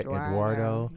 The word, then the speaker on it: Eduardo: listen all cars Eduardo he goes by Eduardo rhymes with Gerardo and he's out there